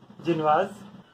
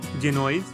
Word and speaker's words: Génoise: So many people also call it Genoise, but the actual pronunciation is Genoise.